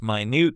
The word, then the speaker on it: minute: It looks like minute as in time, but it means really small.